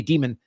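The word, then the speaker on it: Dimon: Um Jamie Diamond and company. Oh, Jamie Demon. I'm sorry. I mispronounced your uh I mispronounced your um your chat here, your XMR chat tip. Uh yeah, Jamie Demon.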